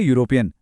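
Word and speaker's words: European: तीसरा है यूरोपियन, जो ई से शुरू होता है लेकिन आवाज़ फिर से य की है, तो यहाँ भी अ यूनिवर्सिटी होगा।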